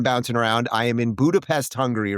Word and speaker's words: Budapest: All right, here we are in Budapest, also known as Budapest, as the locals say.